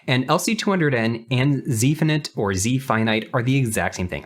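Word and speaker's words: Z-FINIT: lc200n and zeefnet or z finite are the exact same thing i think technically should be pronounced z finite because it's just a portmanteau abbreviation it literally stands for zap fine grain nitrogen steel finite and yes just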